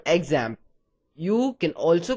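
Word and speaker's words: XAMPP: using it we're going to use something called examp you can also call it zamp and that's how it's supposed to be pronounced however I'll just refer to it as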